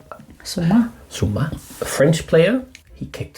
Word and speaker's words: Zouma: One football player, Kurt Zouma, I think his name is pronounced. Zouma, a French player, he kicked his cat.